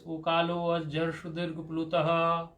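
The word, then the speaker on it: ऊकालोऽज्झ्रस्वदीर्घप्लुतः: For pronouncing purpose, you should pronounce it like this. Ukalo jarshudirg plutaha, like this. Ukalo jarshudirg plutaha, ukalo jarshudirg plutaha, ukalo jarshudirg plutaha. You should pronounce it right, like this.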